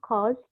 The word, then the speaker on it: caused: Infectious disease caused panjang kan O, caused ini bacanya caused. O ketemu sama titik 2 berarti dia harus panjang. Berarti dia mengandung vowel yang long vowel.